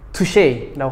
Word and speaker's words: touché: 스펠링을 보면 touch에 e가 붙어요. 그래서 터치에 e가 붙는 거죠. 그래서 불어 발음으로 touché라고 합니다.